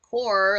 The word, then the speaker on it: Corps: One to go to though says core like CORPS. Corps refers to a group such as the Marine Corps. Its spelling does not change in the singular or plural. Pronounced core when singular, and corps, I like KORZ, when plural.